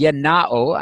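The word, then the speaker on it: γεννάω: To beget, the Greek word is yenao. I'm using the modern Greek pronunciation, which is what we taught and teach at Atlanta Bible College.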